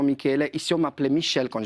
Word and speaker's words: Michele: Oui, Michel, moi je m'appelle Michele. Ouais. Michele, ça se prononce vraiment Michele.